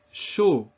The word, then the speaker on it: chaud: AU is pronounced O. It's that same closed O sound that we saw often with the letter O. Répétez. Chaud.